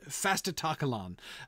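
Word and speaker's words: Fastitocalon: pronounce that one uh in english i believe it's fast fasta takalon um but it's it's it's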